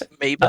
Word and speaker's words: Amoeba: My body got from how do you say this? Amoeba, Amoeba. amoeba. Amoeba. That's right.